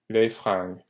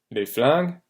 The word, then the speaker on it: fringues: Don't confuse it with les flingues. Flingue is guns, fringue is clothes. Okay, so this R here. If it's spelled with an L, that's guns. With an R, this is clothes.